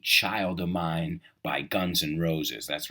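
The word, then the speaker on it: Guns N' Roses: a lot of abbreviations they don't say Guns and Roses they say Guns and Roses because when you pronounce it that's the way it sounds Guns and Roses Guns and right the D is kind of Silent right guns and roses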